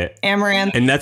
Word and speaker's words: Amouranth: name do you like being how do you pronounce it I don't even know I read it I've never heard you say it amaranth and that's how you like in this setting